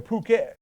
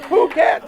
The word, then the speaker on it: Phuket: so I'd be like we're going over to Phuket but I tell them this this way I